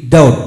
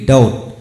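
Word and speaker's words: doubt: ডে টিট এখন আসুন ডি ইউ বি টি ডাউট ডি ইউ বি টি ডাউট তো বন্ধুগণ বিযুক্ত যতগুলি শব্দ উচ্চারিত হয় না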